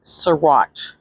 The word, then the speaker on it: Saguache: Anyways, as usual, I mispronounced some of these counties, so it's Saguache.